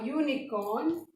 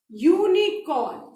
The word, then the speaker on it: unicorn: सो a unicorn is dash imaginary animal. अब आप ध्यान से देखो, यूनिकॉर्न स्पेलिंग यू से है ना, और यू क्या है, वावल है, बट साउंड किसका आ रहा है, य व्यंजन का साउंड